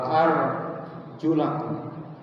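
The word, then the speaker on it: أَرْجُلَكُمْ: Hanya beda membaca harkat. Ada arjulakum. Ada arjulikum. Yang membaca arjulakum itu kalau wudu membasuh kaki. Wabsahu biruusikum wa arjul. Tapi kalau yang membacanya wsahu biruusikum waulikum kakinya cukup diusap.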